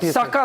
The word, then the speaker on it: Sukkur: Sakkar airport, yes. The pronunciation is Sakkar.